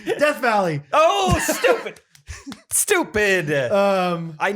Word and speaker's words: Death Valley: didn't say it right what is the real way to say that desert valley california you think it's called you think it's desert valley okay guess not sorry death valley oh stupid stupid um